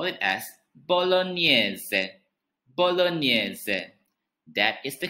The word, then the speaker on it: bolognese: of pasta sauce we call it as bolognese bolognese that is the correct pronunciation if you are in italy it is